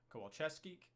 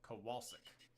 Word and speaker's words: Kowalczyk: Acosta for Cincinnati, Damian Lowe for Philadelphia, Sebastian Kowalczewski. Sorry. Yes, he expected me to pronounce it, and of course I did it without reading his note. So Kowalczyk.